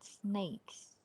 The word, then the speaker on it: snakes: Ini bacanya snakes ya guys. Kalau ular tuh bacanya snakes. Kalau makanan cemilan atau makanan ringan tuh namanya snacks. Jadi beda. Snack sama snakes beda ya.